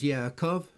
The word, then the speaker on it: Yaakov: Isaac, for example, is pronounced Yitzchak, Jacob as Yaakov, Hezekiah as Hezekiahu, Ezekiel as Yehezekel, and so on.